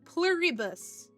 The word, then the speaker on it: Pluribus: Uh, pluribus.